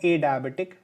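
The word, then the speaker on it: adiabatic: ए डायबिटिक जिसे कहते हैं, एडियाबेटिक भी इसे कहा जाता है, इसका प्रोनाउंसिएशन आप देख लीजिएगा।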